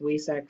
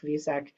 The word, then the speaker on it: Vesak: And then since today is this special celebration of Vesak, also sometimes pronounced Wesak, Vesak is a more correct pronunciation, I believe.